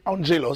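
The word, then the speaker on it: ἄγγελος: grec l'homo orange vient d'un ancien mot prononcé angelo ce qui signifie principalement envoyé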